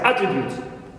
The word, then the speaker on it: attribute: as you would yes attribute attribute as you see here attribute it starts with a flower and the first syllable is stressed here attribute as a